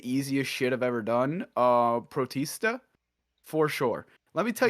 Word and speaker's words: Protista: I think we're going with Protista. I think that's like Batista, but pro. Yeah. Yep. Yes. Yep. That is 100% how you say it.